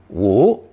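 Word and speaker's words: 无: the simplified character again both versions are pronounced second tone woo and have a negative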